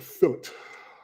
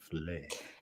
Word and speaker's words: filet: Ugh, fillet. Sound like Carol Lion on the Wizard of Oz. Courage. Fillet. It's a French word. You should try to pronounce it the way the French say it. Filet.